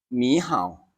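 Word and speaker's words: 你好: นะ ครับ ตรง นี้ จะ อ่าน ว่า หนี ห่าว หนี ห่าว นะ ครับ มี เฮา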